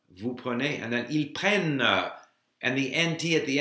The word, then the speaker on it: prennent: So, je prends, tu prends, il prend, nous prenons, vous prenez, and then ils prennent, and the NT at the end isn't pronounced.